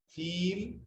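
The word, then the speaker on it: فيل: It is pronounced as feel. It has a spellings of fa, ya, lam.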